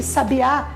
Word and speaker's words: sabiá: pessoas secretaria o lugar ou sabia sabiá sabiá o animal sabia de saber alguma coisa que tem umas palavras